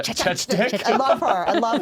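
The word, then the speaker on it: Chechik: I'm gonna pronounce Adriana Chechnik. Am I saying it right? Yeah. Chechnik.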